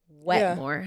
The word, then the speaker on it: Wetmore: Is that how you pronounce his last name? Wetmore? Yes. Yep. Wetmore.